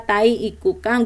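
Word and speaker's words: 体育館: ini gedung olahraga ya Ini kanjinya apa Tahi iku Kang ini kanji tai ya oke Jangan berpikir jorok ini memang betul ya cara bacanya tahi ya tai iku kan gedung olahraga ya oke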